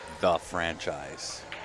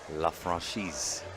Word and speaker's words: LaFranchise: Her name in English is the franchise. However, she pulled us aside and said, "Proper pronunciation of my name is Lafranchise."